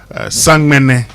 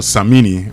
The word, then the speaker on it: Samini: And that's Samini with Chana featuring the Soweto Gospel Choir, Sangmene or Samini, whichever way you want to pronounce it.